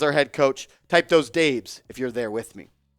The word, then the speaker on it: Daboll: I know it says Dabs, but that's how he spells it, and he pronounces it Dabes.